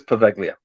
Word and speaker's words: Poveglia: into it's yeah right I'm hoping I'm even saying it right now no I do believe it's perfectlia um and yeah I see she wrote it Poveglia okay wrote it thank you k um as p-o-v-l-e-g-i-o um and it's I think it